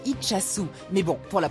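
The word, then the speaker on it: Itxassou: Alors, en fait, on dit Itchassou.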